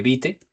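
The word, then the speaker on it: Vite: Y por otro lado, vamos a necesitar esta herramienta que se llama, bueno, se escribe Bite o se pronuncia o se lee bit.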